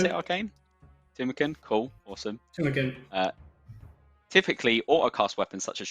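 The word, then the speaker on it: Tumeken: Is that how you pronounce it, Arcane? Tumenken? Cool, awesome. Tumenken.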